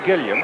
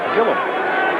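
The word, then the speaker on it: Gilliam: you know him well how do you pronounce his name you say Gillam Joe Gillam and yet it's listed in the pronunciation guide and in other places and and uh for years I've heard it pronounced kill him well he always answered to gilam in Pittsburgh I meant to ask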